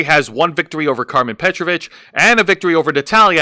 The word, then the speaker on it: Petrovic: It is Petrovich, according to WWE. Not That's Petrovic? No, it's Petrovich. I had to watch a few NXT shows and I'm like, oh, so they're pronouncing it as Petrovich, not Petrovic.